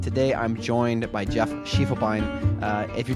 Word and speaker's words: Schiefelbein: You know, you got Be A Dude correctly, but I say my last name I say Schiefelbein. Schiefelbein.